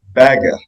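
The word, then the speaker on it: Bagge: who I renamed because his Swedish name is pronounced Baga it's b a g g I thought the reader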